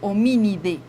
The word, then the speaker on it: Hominidae: las familias es de ustedes están leyendo ahí hominidae pero se pronuncia o mini de esto entonces la su